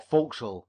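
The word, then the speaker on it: forecastle: is soon known in the four castle, or folks, as the sailors pronounce it.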